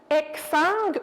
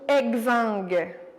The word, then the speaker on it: exsangue: Les deux sont possibles. En fait, on peut dire exsangue ou exangue. Donc, soit qu'on prononce comme un K ou un G.